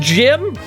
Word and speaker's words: GM: GM's pronounced Jim?